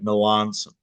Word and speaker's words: Melanson: about you that that suggested pronouncing it like the city in Italy pronounce it like Melanson yeah exactly okay but